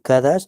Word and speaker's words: Kadash: Entonces no significa, o sea, yo no puedo decir Kadash es apartado, no, es consagrar o Kadesh, ¿ve?